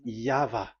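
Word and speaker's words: YHVH: Pronunciation is equal V. It is V. Y H V H. So it is YAHVAH.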